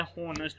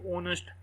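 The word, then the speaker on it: honest: इसी तरह कुछ लोग पढ़े होते हैं होनेस्ट, मैं भी होनेस्ट पढ़ा करता था, लेकिन वो अजी ओनेस्ट, एच की साउंड वहाँ पर नहीं आती।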